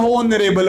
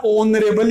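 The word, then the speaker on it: honourable: यहाँ पर होनर नहीं होता है बेटा, कभी भी ओनर होता है। क्या होता है, ओनर होता है। आप कभी भी होनर मत बोला करो, कई बच्चों की आदत होती है होनरेबल बोलते हैं, होनरेबल कभी नहीं होता है, ओनरेबल ही होता है।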